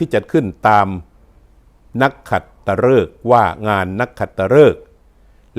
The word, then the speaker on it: นักขัตฤกษ์: จะ นำ คำ ว่า นักขัตฤกษ์ กับ วัน นักขัตฤกษ์ มา ให้ ท่าน ได้ รับ ทราบ กัน นะ ครับ คำ ว่า นัก ขัตฤกษ์ ออก เสียง ฤกษ์ นะ ครับ ฤกษ์ ครับ ก็ เป็น คำ นาม